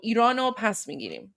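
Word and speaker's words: ایران رو پس می‌گیریم: So I wrote it phonetically for you guys. So it's Irano pas migirim. So it means we will reclaim Iran. Pas means like pas migirim was will reclaim. So Irano pas migirim. There you go. That's how it's pronounced there.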